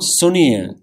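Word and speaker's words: ਸੁਣਿਐ: So it's not Suni-ai, it's Anana, Suni-ai.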